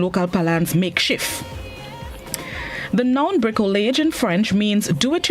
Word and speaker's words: bricolage: day this morning's word of the day is brickelage brickell age it's spelled b-r-i-c-o bricolage it's unknown which means a construction made of